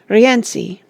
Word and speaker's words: Rienzi: Here is a list of the operas by Richard Wagner, with their names pronounced. The Fairies, 1833. Das Liebesverbot, 1836. Rienzi, 1842.